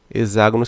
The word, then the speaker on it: hexágono: Lembrando que hexágono se escreve com X, mas tem som de Z.